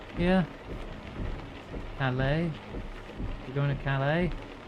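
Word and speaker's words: Calais: You going to Calala? Am I saying that right, Gwen? Pretty sure the S is silent.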